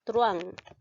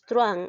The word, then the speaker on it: truhán: de silabear ya observemos truán observamos aquí en este caso dos vocales la 1 y la de te cuenta que la h no se pronuncia por lo tanto no lo cuento hay diptongo por lo